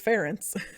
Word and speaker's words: Ferenc: I thought it was, because it's spelled Ferenc. So I was like, Frank? Like, or even like kind of a Hungarian version of Frank. Oh. But then I looked up, I got all these translations in Polish pronunciation because it was as close as I can get to Hungarian. And it's, according to that, it was Ferenc.